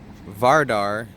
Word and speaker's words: Vardar: Here's a little view of the Vardar, as I'm pronouncing it.